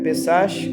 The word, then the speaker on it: Pessach: festas que temos é a pessa se escreve pessach com ch mas se lê pessa que é a Páscoa